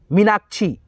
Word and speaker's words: मीनाक्षी: ठीक है, यानी कि छी, सिंपल उच्चारण हो रहा है। ठीक है, यही खींच करके होता मीनाक्षी ऐसे होता तो हम लोग यहाँ पे डबल ई लगाते, लेकिन यहाँ पे सिंपल उच्चारण है छी का, तो यहाँ पे आई लगाएंगे। ठीक है, समझ गए?